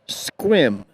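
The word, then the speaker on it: Sequim: looks like squim but the proper way to pronounce it and they'll let you know too and that is squim it looks like seim but a squim and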